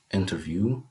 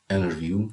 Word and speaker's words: interview: We have the word interview or interview, the two pronunciations are right, as we see in the picture.